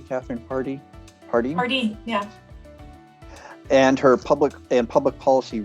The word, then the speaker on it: Pardee: Am I pronouncing that correctly, Kathryn? Pardee? Pardee, yeah.